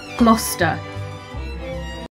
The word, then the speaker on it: Gloucester: on my assumption of how british people would pronounce it maybe gluster let's see cluster gloucester what okay iron was close gloucester cluster